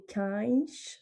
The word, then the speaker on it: cães: L'autre cas de figure, c'est aussi pour chien, qui se prononce cão au singulier et cães au pluriel.